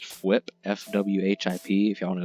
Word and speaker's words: Fwhip: So yeah, I understand I may have pronounced it a little weird, but I think it's just Fwhip, F-W-H-I-P.